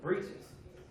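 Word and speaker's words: breeches: where the term bridges come from it's actually pronounced breaches there's no country slang and turning your little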